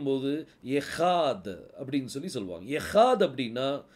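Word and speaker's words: אחד: புள்ளி இல்ல அப்ப இது என்னது ட இந்த மூணையும் உச்சரிக்கும் போது எஹாத் அப்படின்னு சொல்லி சொல்லுவாங்க எஹாத் அப்படின்னா அதுக்கு அர்த்தம் ஒன்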